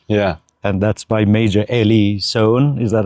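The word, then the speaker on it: Ely Soane: And that's by Major Eli Sohn.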